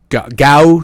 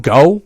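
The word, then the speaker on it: Geaux: I I like LSU gow Tigers or gal yeah yeah go how did I don't know how you say it no it's go alright GAO spell differently I mean there's you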